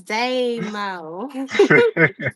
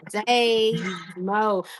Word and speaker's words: Damo: It's Damo. Day Mo.